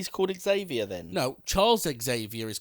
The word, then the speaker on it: Xavier: can't pronounce the word Xavier we don't have a x-ray is zer again it's got the X it's an X it's an x dash like X-Men is x dash okay so would you